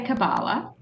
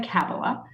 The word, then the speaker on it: Kabbalah: I say Kabbalah. Some people say Kabbalah.